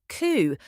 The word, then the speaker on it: coup: The P is completely silent. It's just coup. Rhymes with two.